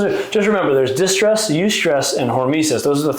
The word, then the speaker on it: eustress: Good stress is that eustress? Is that how you pronounce that? Eustress? Like euphoria.